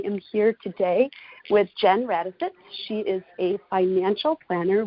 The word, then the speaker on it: Radostits: So I'm embarrassed to ask this, but pronunciation of your last name is Radostits? Radostits.